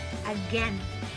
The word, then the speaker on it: again: It should be again.